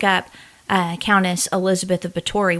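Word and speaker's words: Báthory: uh ctis Elizabeth of bori which it's b a t h o r y but the th is spelled with a or sounded out with a t Countess I never know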